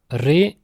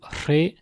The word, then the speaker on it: re: vers Bignan et ATEX re quand il n'est pas muté il se prononce R ou re en BAV continental en pays de beau et dans la majeure partie du pays de Pontivi on dit r à plouineek ainsi qu'en